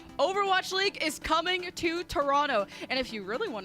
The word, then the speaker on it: Toronto: league is coming to toronto and if you really want to impress the locals make sure you don't pronounce the second t that's that's the secret